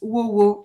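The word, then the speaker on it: ww: We call that WoWo. I don't know if this is really easy to pronounce for English speaker, but it's worked well in French.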